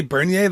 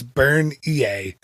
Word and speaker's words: Bernier: Jennie Bernier was she I say Bernier like she's it she's a Canadian and she's not it's burned EA so I'm sorry